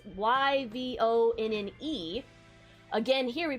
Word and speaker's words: Yvonne: is the other spelling of that where it's y v o n n e again here we pronounce it ivonne but it's actually pronounced yvonne and i get